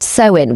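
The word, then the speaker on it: Samhain: The roots of Halloween lie in the Celtic festival of Sam Hayne pronounced sewin which predates Christianity and was observed by ancient druids.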